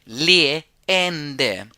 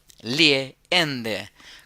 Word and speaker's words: leende: Kan du bjuda på ett leende? Kan du bjuda på ett leende? La palabra sonrisa, la primera es una E larga, la segunda no porque después vienen dos consonantes. Entonces es leende, leende.